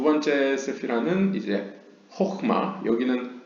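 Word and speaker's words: חכמה: 그 다음 두 번째 세피라는 이제 호흐마, 여기는 하흐마라고 써있는데 이것은 약간 과거 약간 동유럽식 유대인들이 쓰던 발음이고요.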